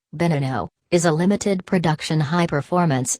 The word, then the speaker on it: Veneno: The Lamborghini Veneno, Spanish pronunciation, Veneno, is a limited production high-performance sports car manufactured by Italian automobile manufacturer Lamborghini.